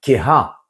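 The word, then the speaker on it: כהה: Ne lis pas donc yadecha ta main, mais yad keha, puisque on écrit ce he, eh bien on doit le prononcer.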